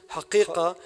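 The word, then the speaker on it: حقيقة: literally speak the truth, one must pronounce the qaf. If one drops the pronunciation of the qaf and pronounces the word truth with a glottal stop, which would be haq as ha, they are simply not speaking the truth as it truly sounds.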